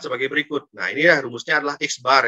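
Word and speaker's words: x̄: berikut nih rumusnya adalah x bar ini bacanya adalah x bar ya guys barat rata-rata seperti ini ini bacalah eksbar Yes bacanya Ya eksbar = Sigma Sigma bacaannya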